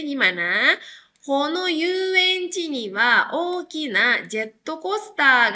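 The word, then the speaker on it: 遊園地: Ini ketemu sama kanji lagi, jadi dibacanya yu ya. Bukan asobu lagi ya, tapi dibacanya yu.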